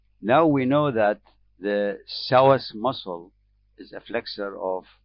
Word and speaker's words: psoas: it is called the source muscle as you can see the pronunciation is missing the p the p is not pronounced this muscle is coming